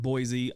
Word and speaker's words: Boise: well that's good number seven Boise Idaho now you want to say it right it's Boise not Boise the 2007 Fiesta a lot of people throw Z in there and it drives the locals crazy I am guilty of calling it Boise on more than a few occasions because I know it drives the locals crazy it's actually Boise and I promise they'll